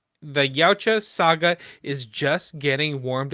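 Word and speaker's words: Yautja: And Dan Trackctenberg says the How do you pronounce that? Yaoa. The Yaoa saga is just getting warmed up.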